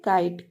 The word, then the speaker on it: kite: ई silent है और T consonant है, टी के पहले जो वॉवेल है वो आई है, वो वॉवेल आई है, तो हो गया काइट, KITE काइट, काइट means पतंग।